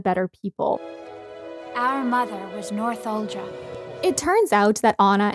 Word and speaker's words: Northuldra: For the rest of the video, I call the Northuldra Northuldran and or Northuldral, and it should be Northuldra, and I don't realize